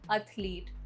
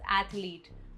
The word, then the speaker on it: athlete: Word 12, एथलीट, नॉट एथलीट। द correct pronunciation is एथलीट. For example, he is an amazing athlete.